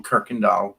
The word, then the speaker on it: Kuykendall: only bs about half i do pronounce my last name kirkendall like that's what i like about english you can spell it anyway and pronounce it even in a totally different way exactly so krikandal okay